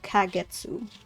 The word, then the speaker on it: Kagetsu: and this is because the individual can be for flower can be pronounced as Ka while the one for Moon can be pronounced as Getsu so kagetsu so now about the